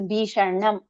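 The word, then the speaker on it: भीषणम्: So usually the Sha and the Na, they come as a pair. So Bhishanam. So you roll your tongue once to pronounce both of them. Sha and Na together. So Bhishanam. Prapancha, Nasha, Bhishanam. So you have to roll your tongue inside.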